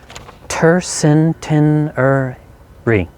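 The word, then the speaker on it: tercentenary: ter centenary it's hard it's five syllables tur sin tin er re tur centenary uh please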